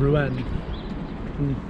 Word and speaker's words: Rouen: We now find ourselves in the city of Rouen. That may not be the exact way to pronounce it, but it's the Americanized way, so sticking with it.